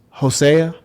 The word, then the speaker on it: Hosea: But anyways, you said it's pronounced Hosea.